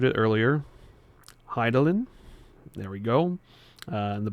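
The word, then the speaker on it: Hydaelyn: Vanette, Heart of I butchered it earlier. Hidelin.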